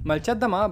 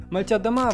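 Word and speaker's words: Молчат Дома: Malcia Adama, bo tak wymawia się nazwa tego zespołu, jest białoruskim, postpunkowym, synfowym zespołem tworzącym muzykę w języku rosyjskim. Malcia Adama właśnie w takiej wymowie oznacza milczą domy.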